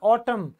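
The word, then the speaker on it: autumn: बोला जाता है दम इसे बोला जाएगा ऑटम तो एम आएगा लेकिन एन लास्ट का साइलेंट रहेगा अब लास्ट हमारा जो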